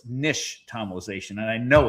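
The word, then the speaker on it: nixtamalization: And the X is actually sh. So, it's nish tomalization.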